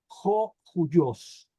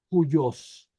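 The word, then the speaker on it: υἱός: tiene aquí espíritu rudo no se pronuncia como O sino como Jo joyos y luego Aquí tiene espíritu rudo también por eso digo Jos joyos y esto significa hijo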